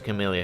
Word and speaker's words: Camellia: She said the one who killed her mother 5 years ago was Camellia herself. What? It's what are Camilla, you talking about? not Camellia. I pronounce it you can pronounce it either way, by the way, just so you know.